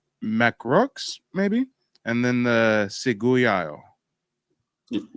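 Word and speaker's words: Ciguayo: Okay, so on Haiti, you've got the Taino, you got the Macrox, maybe, and then the Seguyayo. That's how you pronounce it.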